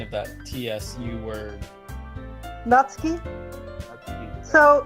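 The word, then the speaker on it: Natsuki: Nutski. that's deep. So it's Yeah. like what I was told is it's like you're saying the end of the word cats.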